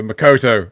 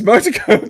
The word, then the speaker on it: Motoko Kusanagi: So Makoto, right? So I keep on calling her Makoto. It's not. It's Motoko. It's Motoko Kusanagi. Fuck! I keep on getting her name wrong.